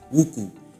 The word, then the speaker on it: wuku: Dan menurut saya buku di sini tuh harus dibaca sebagai wuku.